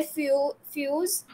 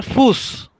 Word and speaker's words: Fuß: Dare फ्यूज, नो no, dare फूस, फूस.